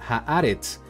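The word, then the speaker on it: הארץ: falta de esta palabra la letra segol es una e entonces diría ha arets que signif la tierra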